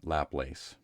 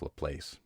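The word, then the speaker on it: Laplace: ago with his story The Demon lapace notice I'm using the better pronunciation instead of La Place anyhow in case you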